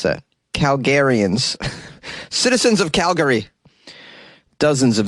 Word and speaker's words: Calgarians: How do you pronounce that? Calgarians.